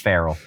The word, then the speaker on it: Pharrell: Yeah, I believe Pretty it's sure pronounced Farrell.